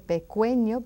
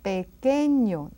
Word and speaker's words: pequeño: Now the QU, it's another of those rules that you don't pronounce the U. It is silent. Que, what, or which, que. And then pequeño. You don't hear that U, right? We don't say pequeño, but pequeño, small.